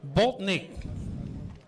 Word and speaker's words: Bolting: and G Design, Oliver Bolting. I've been saying it Boltnick, but his dad taught me how to say it this morning.